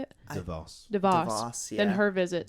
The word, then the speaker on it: DeVos: That Dwayne Wade's visit was like got more accomplished for them Yes, than Betsy Davos. Davos. Is that how you say it? DeVos.